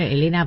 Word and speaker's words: Helena: Igual Elena pronunciar se pronuncia igual.